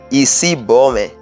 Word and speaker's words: Isibome: Isibo, Isibome, that is the full pronunciation.